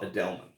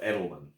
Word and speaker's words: Edelman: There's a horror writer, a homosexual horror writer named Scott Edelman, or Edelman, however you want to pronounce it.